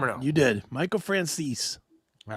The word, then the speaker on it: Franzese: Michael Franzese. Did I say it right this time or no? You did. Michael Franzese.